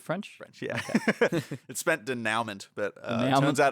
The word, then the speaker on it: denouement: French yeah it spent denouement but uh almonds out it's French and you're not supposed to say it like that there's any French people listening denouement anyway yeah so I